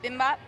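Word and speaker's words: bibimbap: So it's called bimbap.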